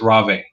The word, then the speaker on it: Rave: Apparently, it's not Rave. It's Rave. So Yeah, it's raw bay.